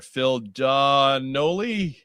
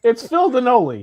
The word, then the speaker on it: Phil Donnelly: There's a new guy in the bottom corner, Phil Donnelly. Yeah, it rhymes with cannoli. Right. Phil, it's Phil Donnelly. He works at construction. Cannoli. Hey, it's Donnelly.